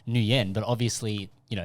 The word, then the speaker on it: Nguyen: meant to be pronounced Nguyen, but obviously, you know, it's Vietnamese pronunciation versus an English pronunciation, Yeah.